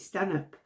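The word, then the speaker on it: Stanhope: inspector be Stan hope although she does actually sometimes pronounce it Stan up now I don't know whether that's a nod to whe you know um traditional North umberland people who will pronounce it that way but I'm sure she's pronounced it St up as well she works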